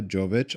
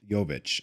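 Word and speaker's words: Jović: And Teenage Phenom, uh, Eva Jovich, all reaching Yovic all reaching the quarterfinals.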